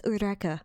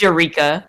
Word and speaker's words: Eureka: remember seeing this and i was like what eureka they're like no it's uraka i was like what it's eureka eureka this is like the same argument we